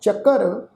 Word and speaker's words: ਚੱਕਰ: ਚੱਕਰ ਚੱਚੇ ਦੇ ਉੱਪਰ ਅੱਧਾ ਕੱਕੇ ਦੇ ਪੈਰ ਵਿੱਚ ਅੱਧਾ ਰਾਰਾ ਲੱਗਾ ਹੋਇਆ, तो उच्चारण करांगे ਚੱਕਰ ਚਿਹਨ।